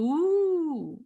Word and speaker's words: ooooo: Well, I've got to first of all say the ooh bit. I mean, this is a lot of fun. It's actually spelt with 5 O's, 5 oohs, and it's pronounced Ooh.